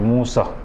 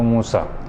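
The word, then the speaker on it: मूषः: तो मूसह, ठीक है। जो विसर्ग है, विसर्ग की मात्रा को ह की तरह उच्चारण करना है, तो मूसह।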